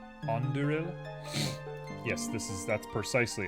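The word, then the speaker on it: Andúril: and yes i don't know how to pronounce it correctly anderil anduril yes this is that's precisely it you've got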